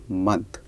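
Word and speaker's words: mai: हम लगाएंगे ल देन मे को हम फ्रेंच में मे ही बोलते हैं स्पेलिंग में थोड़ा सा डिफरेंस है एम ए आई तो ल मे उसके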